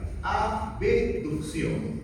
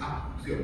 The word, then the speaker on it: abducción: Abducción para que no se confundan con la abucción. Ya no digan con ese abeducción. Estás hablando mal. No es abucción, es ab. Se pronuncia la B.